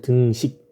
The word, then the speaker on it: 등식: 발음 잘하죠? 등식. 니은 받침하면 안 돼.